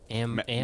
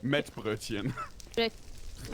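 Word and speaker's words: Mettbrötchen: Ambrosia. Metbrötchen. No, not ambrosia. Metbrötchen.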